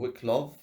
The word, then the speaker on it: Wicklow: So this is Elevation by Wicklow Wolf, or Wicklov, if you want to pronounce it that way.